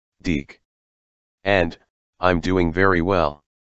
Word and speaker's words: DiC: this foggy evening it's pronounced deke and i'm doing very